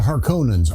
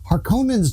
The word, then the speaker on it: Harkonnens: Harkonnens just sounds more threatening too, and it doesn't help that Frank Herbert himself is heard pronouncing it Harkonnens, but is also quoted as saying that however you want to pronounce things is just fine, which just seems like